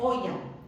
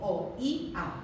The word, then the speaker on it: oía: la razón, por ejemplo, por la cual oía son tres sílabas en lugar de una sílaba. En oía no hay un triptongo, sino que lo que hay son dos hiatos, la O con la I y la I con la A. Porque fijaos que no digo oya o no digo oya, sino que digo o-i-a.